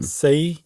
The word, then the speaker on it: Sei: specific book written by uh how would you pronounce s ei as a first name say s say sei uh shonagun and